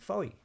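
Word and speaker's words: Fowey: but it's it's it's uh spelled f w e why okay and in my ignorance I'd always called it Foy yeah but the corish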